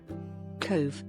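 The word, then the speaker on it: Cobh: Cove, pronounced Cove, has welcomed many guests, most notably the millions of 19th-century emigrants who boarded ships heading for a new life in America.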